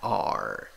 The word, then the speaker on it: are: la palabra se pronuncia R, R. La A con dos puntos es una A gruesa, ¿ok? La última vocal no va, no pronuncias la E.